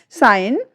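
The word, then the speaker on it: sign: यहाँ पर जो हमारा रूल्स कहता है वो क्या कहता है, जब किसी शब्द में एन से ठीक पहले जी आता है तो जी हमारी जो वो है वो साइलेंट रहती है।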